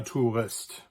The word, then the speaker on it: Tourist: So you have words like, for instance, der Tourist, which is from French, but it's also spelled the same as the English word. So in this case, you have OU, which